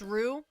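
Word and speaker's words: roux: It's French. It's just pronounced rue. R like a kangaroo.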